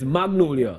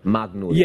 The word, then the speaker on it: Magonolia: pronounce the name of the movie itself it's Magnolia Magnolia yeah it's just spelled with a different ooh um but when you